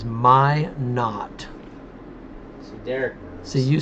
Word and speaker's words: Minot: just kind of cap the situation there in manoy it's actually pronounced my not my not okay so just wow Freddy actually